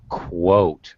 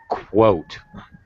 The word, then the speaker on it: quote: Okay, first of all, Shafar, pronunciation, it's like a KW sound. Quote. Kwa. Kwa. Quote. Okay. Quote.